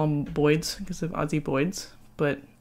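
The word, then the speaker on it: boid: All the ball python people call them Boyds because of Ozzy Boyds, but it's like saying Boyd. Zoology. You know, there's two vowels there, so you pronounce each of them separately.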